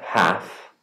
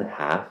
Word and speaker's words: half: live have and and half notice the silent l in half we do not pronounce it safe and save few